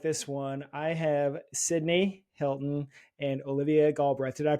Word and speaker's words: Cydnie Helton: you're really gonna like this one I have cydney Hilton and Olivia GTH did I pronounce those names right girls perfect yes perfect